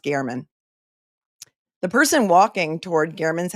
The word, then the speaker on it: German: G Gman or Gman it's spelled German g e r m- an but it's pronounced Garman the person walking toward